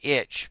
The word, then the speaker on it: Ich: So, white spot disease or itch pronounced is highly contagious fish freshwater fish parasite.